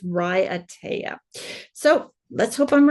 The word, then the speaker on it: Raiatea: I'm sorry but um I looked it up on YouTube in one of those pronunciation videos and it said that it's Ry ATA so let's hope I'm